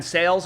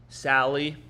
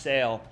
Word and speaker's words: Sale: he's 242 against lefties it's pronounced sale so apparently it's pronounced